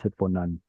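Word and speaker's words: הִתְבּוֹנָן: Should be hitbonen, but in the pausal form it's hitbonan.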